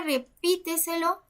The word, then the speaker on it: repíteselo: En la palabra repíteselo, si nos damos cuenta, dice así, que está en la última, penúltima, antepenúltima, antes de la antepenúltima sílaba. Y como dijimos hace un rato, todas las palabras sobreesdrújulas se acentúan. La palabra café, la sílaba